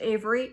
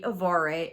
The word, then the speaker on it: Avari: I think the last name is pronounced Avery. It might be Avari, A-V-A-R-I.